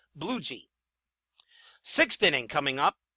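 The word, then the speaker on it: Bluege: his name is pronounced it is pronounced aie bluei sixth inning coming up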